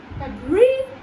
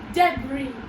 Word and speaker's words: debris: So you just have to remember that the S over here is not pronounced. And you just have to remember that the RI is re. Okay? So let's pronounce it together. Please repeat after me. Re, debris, debris.